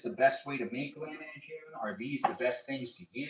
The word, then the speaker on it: Lahmajoon: Bro, it's pronounced Lahmajoon. I think, Dad, how do you pronounce it? Lahmajoon. Lahmajoon. Well, in my family, it's Lahmajoon, which is L-A-K, but it's not K.